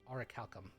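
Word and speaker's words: orichalcum: of uh something called oraculum or oricalcum that's the appropriate pronunciation of the word orac Calcom uh offered it to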